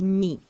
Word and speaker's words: mis: Mettre, the verb to put or to place or to put on, its past participle is mis. It's pronounced mi.